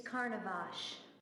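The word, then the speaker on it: Carnovasch: took over the old caravash estate it's carnivage I like his pronunciation better I remember now your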